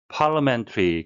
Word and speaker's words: parliamentary: parliamentary, 국회와 관련된 국회라는 의미인데요. 발음에 유의하셔야겠습니다. li는 리어가 아니라 러가 되겠습니다.